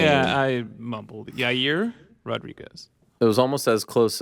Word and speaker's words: Yair Rodriguez: Yair Rodriguez. It was almost as close as Chael Yair. Yeah. You know what? So it's Yair Rodriguez.